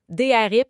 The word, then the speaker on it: DRP: Drip ça s'écrit DR P.